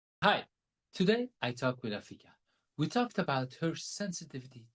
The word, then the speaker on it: Afika: Is Afika the right way to pronounce the name? Afika is perfect. You got it right. As long as you Oh, didn't say Africa.